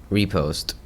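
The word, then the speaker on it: riposte: Repost. I have no idea what it is. I have no idea how you pronounce that. It is I'm pretty sure it's French. Repost. So, it is repost.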